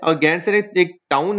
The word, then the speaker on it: गैरसैंण: Okay, लेकिन ये बहुत टाइम से एक बात चल रही थी कि गैरसैंण जो है, ये इसको प्रोनाउंस करें गैरसैंण।